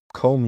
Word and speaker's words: comb: Comb, you comb your hair in the morning. I need to comb, silent B.